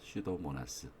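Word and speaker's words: Pseudomonas: 되요 이렇게 입으시면 되요 슈도모나스 여기서 피는 묵음 이에요 그러니까 아홉수 세워도 나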